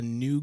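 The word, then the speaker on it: ν: going to get a new gundam sketch and that's nu uh and uh let's see that is the rx 93 ffv gundam but the v is the greek symbol pronounced new um which is a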